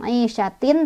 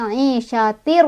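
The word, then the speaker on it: عيشة: Fi 'ishatir ini ada idgham bila gunnah karena ada tanwin kasrah bertemu dengan ro. Cara bacanya tanwinnya langsung masuk ke ro. Jadi bukan aisyatin tapi aisyatir, ro langsung masuk.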